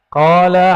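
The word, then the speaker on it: قال: Qala haddatsana. Coba lihat. Ini enggak ada tulisan qalanya enggak? Enggak ada kan? Tapi ahli hadis membacanya qala. Dibaca qala itu.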